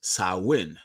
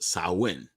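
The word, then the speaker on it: Samhain: Celtic Festival of champagne a Gaelic word pronounced sauwin so it's pronounced sauwin a pagan religious celebration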